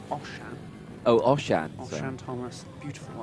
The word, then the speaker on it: Oshan: It's Oshan. Oh, Oshan. Oshan Thomas. Beautiful Osh name. No H to give you that sh sound, but I can assure you, Oshan is how it's pronounced.